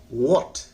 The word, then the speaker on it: what: इसके लिए आप अपने लिप को, ओठ को गोल करिए और व्हाट बोलिए। जब भी W से कोई वर्ड होगा उसको आप लिप को गोल करके बोलना पड़ेगा, व्हाट, हाँ, तो जाकर आपकी उच्चारण आएगा, है ना।